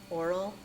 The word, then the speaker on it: Oral: Oral as in oral report.